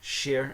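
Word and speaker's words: chercher: in ship okay so see h symbol sh sh sh c h e r share like share the and then CH h e r again so it's two shares pressed up against each other sh Shia sh okay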